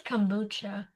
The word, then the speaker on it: kombucha: Is it kambuchi or kombucha? I can't remember. Uh, I think it's kombucha. Yeah, kombucha.